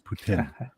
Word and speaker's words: poutine: local when you call it poutine it's poutine I'm an American gamut and I I embrace it then you then you have a bad grasp of English because p-o-e-p-o-u-t-i-n-e should be Putin if you're pronouncing it as spelled right I'm going to